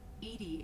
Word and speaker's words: EDI: are you named Edie Edie is the phonetic pronunciation of EDI that is an acronym for enhanced defense intelligence foreign where are you